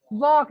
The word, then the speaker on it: walk: वॉक, L silent है।